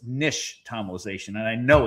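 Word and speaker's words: nixtamalization: It's an Aztec word and the X is actually sh. So it's nish tomalization.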